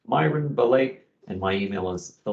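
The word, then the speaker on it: Belej: Again, it's Myron Belay, and my email is the letter M followed by my last name, which is Belay, and that's spelled B-E-L-E-J.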